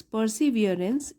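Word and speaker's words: perseverance: परसीवियरेंस, पहले तो आप इसको तोड़ तोड़ के पढ़िए। पर सी और यहाँ पे स्ट्रेस होगा वियरेंस। परसीवियरेंस इज द की to success.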